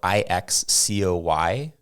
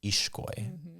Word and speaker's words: Ixcoy: So the X in the Mayan languages or in a Guatemalan name actually makes the SH sound. So if you have the name that's spelled Ixcoy, people might pronounce it Ixcoy. Ixcoy? It's actually pronounced Ishkoy.